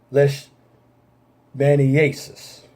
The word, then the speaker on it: leishmaniasis: Now, that's Cutaneous leishmaniasis. That's the pronunciation.